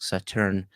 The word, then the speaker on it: Sauternes: Um, I was told that it is pronounced sautan that the s is silent.